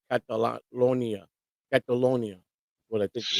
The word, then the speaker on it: Catalonia: Cantolina. Yeah. Yeah, I think it's pronounced Catalonia.